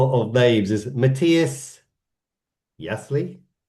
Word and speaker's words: Jaissle: manager called now obviously you know me pronunciation of of babes is Matias Yasley Yi yeah something like that